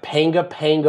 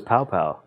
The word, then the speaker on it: panga panga: I thought it was pow pow. Pow pow. Is that how you say it? P-A-N-G-A, P-A-N-G-A? No, is that pow pow?